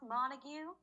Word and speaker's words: Montague: the my character's name mirabelle mountain goo or mountain gew or something it's pronounced montague and it's a very